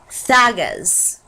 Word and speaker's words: Thagaz: Then on this bottom one is, which ironically it says Dagaz, which is how I've always pronounced it, which is why I have this little runes sheet. It's Thagaz.